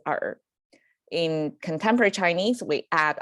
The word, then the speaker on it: 尔: you actually that's the chinese classical chinese you pronounced as art in contemporary chinese we